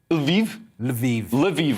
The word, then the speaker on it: Lviv: Lviv, all right, cool. I was pronouncing it like the shampoo, that's wrong.